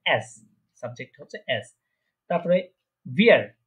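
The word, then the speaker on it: wir: তারপরে ভিয়ার, এটা কি উইয়ার না, এটা হচ্ছে ভিয়ার, ভিয়ার, ভিয়ার প্রনাউন্সিয়েশন করা ভিয়ার। হ্যাঁ, ওই যে নিচের ঠোঁটের সাথে মাঝখানে উপরে যে দাঁতগুলো আছে ওটা লাগিয়ে নিচের ঠোঁট একটু নিচের দিকে গোল করতে হবে, ভিয়ার।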